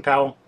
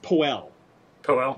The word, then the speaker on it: Powell: powell it's actually pronounced poe well but uh i know i i want to say powell because it it certainly looks like that to me but my understanding is he pronounced it poe okay um so now